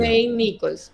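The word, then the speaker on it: Mayne-Nicholls: Nichols Mine Nichols es Harold Mine o Mine es cómo se pronuncia. Main Nichols Main Nichols. Main Main Nichols. Harold Main Nichols.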